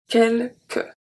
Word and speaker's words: quelques: for the lettre muette, this is one of the words when the E is not silent at the end. Quelques. Quelques emails. Z-mail. So, the last letter that I pronounce is the L. So, we don't pronounce the S once again.